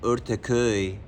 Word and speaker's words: Ortaköy: You have to say it Ortaköy, so you can Right, ortak.